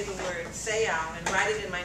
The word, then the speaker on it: Seau: I would have thought that was so, like bow, like your bow, B-E-A-U. So I would have pronounced it so.